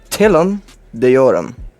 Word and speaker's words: Telum Deorum: it is a carrier ship and i will pronounce it for you here called the tillam deoram now you can go ahead and google what